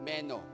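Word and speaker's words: μένω: Alam nyo, yung keep going or continue, ang Greek word po nito ay meno. Meno. Yan po yung pronunciation niya.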